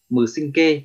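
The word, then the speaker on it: 無神経: Thì vô thần kinh đây thì có nghĩa là cách đọc của nó là mừ sinh kê, cách đọc của nó là mừ sinh kê.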